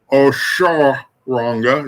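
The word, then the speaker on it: Osoronga: So Iyami Osoranga. Osharanga is how it's pronounced.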